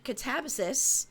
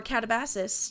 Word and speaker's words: Katabasis: On catabis or catabasis depending on your choice of pronunciation by RF Kuang.